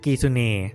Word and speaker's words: kitsune: It's actually Kitsune, but ancient Koreans might not have been able to pronounce it the same way as Japanese, so they pronounced it "Kizune."